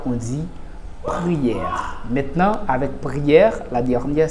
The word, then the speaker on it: prière: Maintenant, avec prière, la dernière syllabe qui se termine avec un E muet, eh bien, E que vous trouvez dans prière se prononce comme s'il y avait un accent grave.